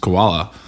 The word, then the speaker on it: Caiola: sure in my dumb brain if it was pronounced koala uh i thought it was some cool spelling